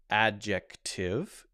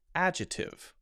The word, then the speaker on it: adjective: Usually people do not say it as adjective. It's usually pronounced adjective.